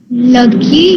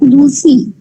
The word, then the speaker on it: Lucy: Lucky Gray was a little girl. Very good. And you'll pronounce it as Lucy. Okay. It will not be lucky.